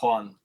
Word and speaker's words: Huan: or is it Juan it's one like with a J yeah no but it's spelled with an h and if you pronounce